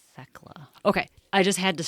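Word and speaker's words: Thecla: It's spelled T H E C L A Theckla. It's probably Theckla.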